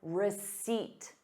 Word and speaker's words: receipt: Please keep your receipt. Receipt. There is no P in the word receipt.